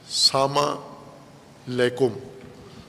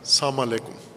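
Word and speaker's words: السلام عليكم: البتہ اپنے لہجے میں، بعض پنجابی لہجے میں سلام کرتے ہیں یا غیر پنجابی میں سلام علیکم، ساما لیکم. نہ ساما کا کوئی معنی ہے، نہ لیکم کا کوئی معنی ہے. سلام علیکم، السلام علیکم تو کوئی اصطلاح نہیں، عادت ہے.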